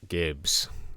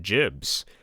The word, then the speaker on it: gibs: I like gibs. They are my favorite thing. Some people call them jibs, but I will note that it is spelled with a G and not a J, in the same way